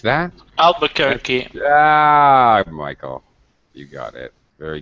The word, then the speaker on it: Albuquerque: can you pronounce that? Albuquerque. Michael. You got it. Very good. Albuquerque.